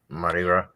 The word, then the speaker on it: Mardi Gras: Rhymes with Party Gras. Oh, yeah. Mardi Gras.